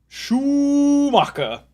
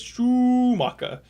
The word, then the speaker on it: Schumacher: I think it was Jer I think it was Clarkson actually uh pronounced uh Michael Schoecker's last name as Shuaka.